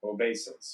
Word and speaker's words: obeisance: Obeisance. Obeisance to me." Did I pronounce it right?